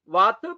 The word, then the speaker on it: Vata: Vata, Pitta and Kapha. This is the proper pronunciation.